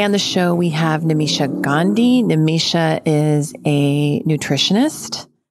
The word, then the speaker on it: Nimisha: Hi, Nimisha.